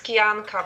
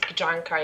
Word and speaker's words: Kijanka: excited is because we have with us joanna kiyonka kajanka did i say that correctly i mean in polish it's kianka but you can just pronounce it djanka if it's easier for you okay cool i